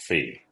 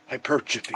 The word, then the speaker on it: hypertrophy: hyperphy, or whatever it is. Hyper, yeah, hypertrophy. I just made it more difficult for you because I said it wrong.